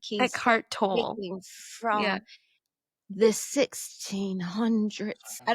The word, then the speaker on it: Eckhart Tolle: By Yeah, how do you pronounce his name? Eckhart Tolle.